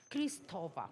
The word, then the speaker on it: Cristóbal: por favor Isabel Fernández Cristobal Cómo se dice Cristóbal Cristóbal cómo lo dije mal Cristóbal pero lo mejoraré para la próxima Bueno les voy a